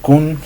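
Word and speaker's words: 寸: ubicar el Sun o el famoso Kun, como muchas veces se les pronuncia aquí en Latinoamérica, que recuerden, Sun o Kun. Sun es la forma de pronunciación adecuada.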